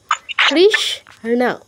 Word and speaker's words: কৃষ্ণ: এখানে সটা আমরা অর্ধেক উচ্চারণ করব কৃষণ কৃষণ কৃষণ এরকম ঠিক আছে রতন কৃষণ না না কৃষ্ণ হ্যাঁ কৃষ্ণ না দ্রুত বলতে হবে এখানে আপনার রস্য নেই